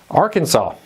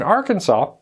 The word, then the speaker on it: Arkansas: there and it is one of those names that can be easily mispronounced with the silent s's and different things all